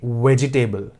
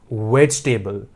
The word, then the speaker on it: vegetable: we don't say it vegetable it's vegetable e is silent so there are a